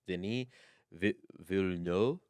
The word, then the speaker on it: Villeneuve: He was like Denis Villeneuve. Villeneuve. It's 2 syllables, but the way he says it makes it sound like it's 2.5 somehow.